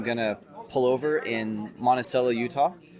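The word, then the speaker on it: Monticello: to pull over in Monella Utah yes it's pronounced monel not Montello uh I don't know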